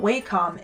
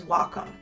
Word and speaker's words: Wacom: Wacom tablet, I was actually informed I did pronounce it incorrectly. It is not Wacom, it is Wacom.